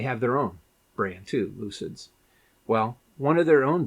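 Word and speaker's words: Lucyd: Um, and it's called Lucid. So, it's it's like Lucy D is how it's spelled.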